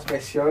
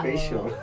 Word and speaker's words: spasial: ya tadi ngobr al atau spesial bacanya spesial atau spial gitu pelfal yang benar tuh gimana sihesnya memang spesial sih jadi dia spesial Tapi kalau secara definisi